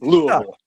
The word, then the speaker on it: Louisville: Louisville, Louisville, and Louisville. It's Louisville. Louisville.